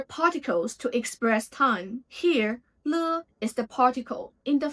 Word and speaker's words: 了: The third standalone character, le. Le is a very special and very frequent character in Chinese, and also the one gives beginners headaches. It actually has two pronunciations. The first pronunciation is le.